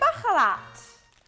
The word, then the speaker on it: Baharat: Let's do a bit of Baharat. Am I pronouncing that correctly?